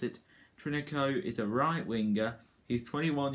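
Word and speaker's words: Trincão: about now which is the fact about francisco trinico for that's how you pronounce it trinico is a right-winger he's 21 years old old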